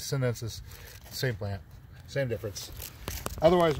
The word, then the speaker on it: chinensis: Or I believe actually they spell it CHINE. They spell it Chinensis and says Sinensis.